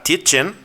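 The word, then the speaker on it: Tietjen: que se llama Ruth rebecca titchen se escribe tiet Gen con j ella publicó en 2023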